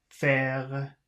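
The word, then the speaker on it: fer: first word is f-e-r so I think they said if it ends with ER but it has more than one syllable these are all one-syllable words so yes you should pronounce the R Fair foreign 59.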